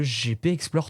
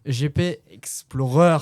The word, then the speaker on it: GP Explorer: est incroyable, c'est le GP Explore 3. Quand je tellement mal prononcé, Gatu. Hein. Mais non, c'est le GP Explore 3. Explorer. Ah, et pardon, GP Explorer 3.